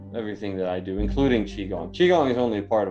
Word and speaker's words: qigong: I'm going to check out that Qui-Gong. Is that what you called it? Qui-Gong? I thought it was Qigong because Qigong?